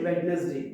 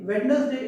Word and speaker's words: Wednesday: We don't say Wednesday. Wednesday is a wrong pronunciation.